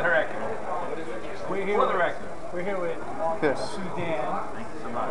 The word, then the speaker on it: Suydam: It said Suydam, S-O-O. Damn, like, damn. God damn. Cool. Sodom, as in Sodom.